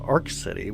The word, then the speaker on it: Arkansas City: And there's a town in Kansas called Ark City, which is spelled Arkansas City, but it's just pronounced Ark City, like nothing else.